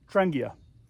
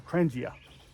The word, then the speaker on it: Trangia: inside of it and this is from uh trangia that's it or trangia however you want to pronounce it okay pair of gloves in here